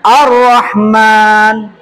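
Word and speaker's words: الرحمن: kanahman gitu kan Iya Berhubung ada lam yang sukun lam mati yang bertemu dengan RO di mana RO itu adalah salah satu daripada huruf Syamsiah maka bacanya harus dile lebur seolah-olah Alif lamnya Hil hilang hilang Coba bareng-bareng kita lafazkan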